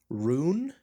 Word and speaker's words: Rhoon: Then, one that isn't very basic, it's called Rune but it's spelled Rhoon.